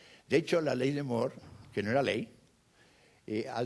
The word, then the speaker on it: Moore: La ley de Moore, que pronuncia Mateo con un acento aragonés, es Moore.